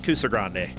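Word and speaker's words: Kusogrande: oh I know you I love cuser Grande and I'm like you said it right oh that's a good sign nobody like if people have heard of it they say it wrong but if they have watched it they say it right and I'm like yes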